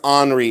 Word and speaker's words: ANRI: I believe there's Henri in here as well. So I think these are probably Henri figures, and it's ANRI. Let's take a look. Henri, Italian. There you go. I said it right.